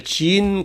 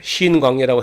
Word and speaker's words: 지인: 거기를 지인 광야라. 우리 성경에는 그냥 지인이라는 발음이 어려우니까 그냥 신광야라고 하는데, 그냥 신광야로 발음할 수 있는 광야는 따로 있고, 지인 광야란 광야에서 그 38년을 거기서 보냅니다.